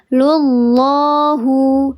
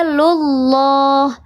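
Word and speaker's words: لله: Kadzalika yaj'alullahu lullahu. Lafzul jalalah yang sebelumnya harakatnya dhammah atau fathah maka dibaca tebal, namanya lafzul jalalah tafkhim. Waalaikumsalam bunda Teti, selamat bergabung. Oke, tafkhim betul. Dibacanya dia lullah, bukan lullah.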